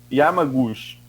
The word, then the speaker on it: Yamaguchi: É assim a pronúncia do nome dela? Nem tem muita. Yamaguchi, que reafirmou teorias de tratamento precoce e imunidade